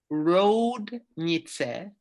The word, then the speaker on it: Roudnice: Okay, the name of the town It's pronounced Roudnice, but it's spelled Roudnice.